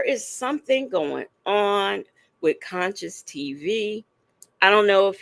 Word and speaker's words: CONCIOUZ: CONCIOUZ TV. It's spelled like conscious, but at the end it has a Z instead of an S.